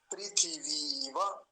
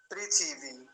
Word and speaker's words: पृथिवी: नहीं है ये वाला अब देखिए अगला शब्द पृथ्वी पृथिवी उस वाले पृथिवी में और इस वाले में क्या अंतर है पहली बात तो व नहीं आया ये वाला व जो है इसमें नहीं आया और देखिए जो व